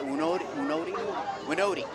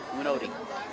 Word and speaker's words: Winodi: Mack, How do you pronounce our starting quarterback? Winodi. Yeah. Winodi. Yes.